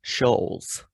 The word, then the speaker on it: Schulz: guy's name andrew schultz andrew you said schultz it's shoals did you know that